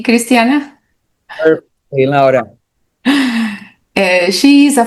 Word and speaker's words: Cristiana: Did I pronounce right, Cristiana?